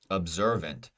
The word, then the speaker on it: observant: have one option observant observant the ER and observant is our vowel sound that is stressed correct going down our